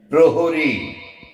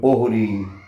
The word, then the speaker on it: প্রহরী: প্রণবকে প্রণব প্রণব প্রতিহারী প্রহরী আমরা যখন ডাক দিই তখন প এর রফরাটা উচ্চারণ হয় না আমরা অনেক সময় পহরি কোন এদিকে এসো এবং